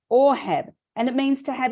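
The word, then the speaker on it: אהב: it's number 157 in the Hebrew it means a h a b we know it as Ahab but it's pronounced orhab and it means to have affection sexually or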